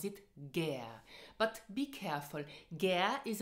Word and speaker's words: gär: Pronounce it gern.